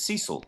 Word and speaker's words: Cecil: I mean, normally I'd be pronounced as Cecil. oh, Cecil, I'm so sorry.